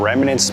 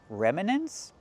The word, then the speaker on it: remnants: It's two syllables, remnants. It's not three, remnants.